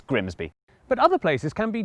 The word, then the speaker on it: Grimsby: But what if we told you it was pronounced Grimis? We'd be lying, it's Grimsby.